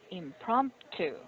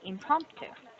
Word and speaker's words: impromptu: So it's not prompt, but impromptu. And make sure you Yes. pronounce the oo sound at the end. Impromptu.